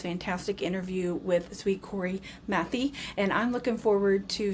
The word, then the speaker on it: Mathey: Now, tell me the correct way to say your last name because I don't want to say it wrong. Matthew. Matthew. Okay.